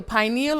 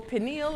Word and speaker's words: pineal: this little dot here the pineal or pineal is according to where you're from the pronunciation is different it determines circadian rhythms